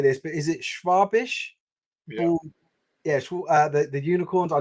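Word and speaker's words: Schwäbisch: I never know how to say this, but is it Schwabisch?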